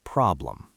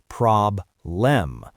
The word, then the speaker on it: problem: A traditional student might try to pronounce that second syllable clearly. They might say prob-lem, but the stress is on the first syllable, prob-lem, so that letter E becomes a schwa, prob-lem.